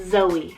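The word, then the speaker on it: Xoie: This one is spelled X-O-I-E, Zoe.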